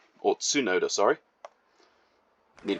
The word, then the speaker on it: Tsunoda: It's Yuki Tsunoda, or Tsunoda, sorry. Need to pronounce that one correctly.